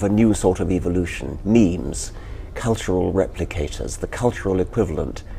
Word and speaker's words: meme: So I called it a meme. It doesn't exactly rhyme with gene, but it's sort of short and sounds vaguely similar.